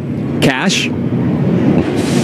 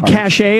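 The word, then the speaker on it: cache: out here Wisconsin's got cash cash I would say cash a as we said in the military in Iraq we found a weapons cash yeah but it is Cash see card all right espresso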